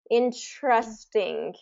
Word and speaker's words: interesting: as T but really when TR comes around it kind of and if you think about it interesting it kind of gets a c pronunciation A little bit in interesting interesting interesting yeah interesting so that's kind of that chaa sound when TR kind of